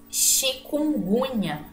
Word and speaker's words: chikungunya: Então, ela tem esse som de X, ó. Chikungunya. Mas não se escreve com X, porque veio de outra língua, não veio da língua portuguesa.